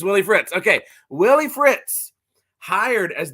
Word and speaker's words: Willie Fritz: want to make sure I'm not saying his name wrong because that would be very embarrassing is it Willie Fritz yes it's Willie Fritz okay Willie Fritz hired as the new Houston